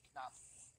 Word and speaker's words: Knopf: In German, there are no silent letters. It would actually be Knopf.